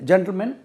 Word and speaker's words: gentleman: ஆனால் ஜென்டில் மேன் எழுதினாலும் இதுக்கு உச்சரிப்பு ஜென்டில்மன் தான் உச்சரிக்கணும்.